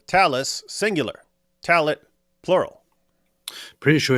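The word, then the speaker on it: tallit: You see, in modern Hebrew, the word is pronounced talit with the stress on the final syllable.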